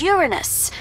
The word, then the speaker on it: Uranus: want a piece of uranus that's funny i don't mean to be a prude but please no jokes about uranus besides the proper pronunciation is uranus it's a dactyl sorry friday hey and